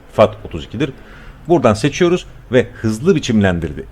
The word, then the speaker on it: FAT32: Pencereden dosya sistemi olarak FED 32'ye seçeceksiniz arkadaşlar bakın ntfs FED 32 ve exfat var Biz fat 32'ye seçiyoruz Türkçe olarak söyleyeyim okunuşu fat 32'dir buradan seçiyoruz ve hızlı